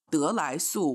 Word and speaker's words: 得来速: It's called 得来速, which is kind of it plays on the pronunciation of drive-through, but if you put a little bit drive-through, like drive-through, yeah.